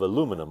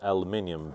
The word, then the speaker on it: aluminum: unit, is made of aluminum or aluminium based on where you are and how you pronounce it.